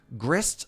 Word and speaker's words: grist: Hard G? Yeah, but is the S silent? Grist or gree? I don't know what hard G means in that specific context. Grist like mist.